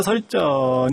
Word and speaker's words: 설전: 같아요 에 그래서 여자 설전 을 찾아옵니다 아 썰전 이라고 발음하지 말고요 이게 에 눈썹을 잘해서